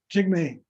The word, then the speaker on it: Jigme: name is um Jake is it Jigme or was it Jigme I wasn't sure Jigme I pronounced it correctly J that's Fearless glorious